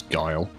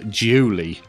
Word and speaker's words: Guile: the dry brush amusingly my friend never knew how to pronounce guile and called him Julie when Street Fighter 2